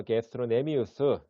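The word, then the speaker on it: gastrocnemius: 장단지근은 게스트로 여기 C는 묵음입니다. 그래서 게스트로네미우스 이거는 약자로 GCM으로 많이 씁니다.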